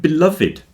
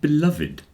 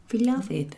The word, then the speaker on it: beloved: it would sound like beloved oh yeah but we always say beloved with the e pronounced which is unusual M it means it's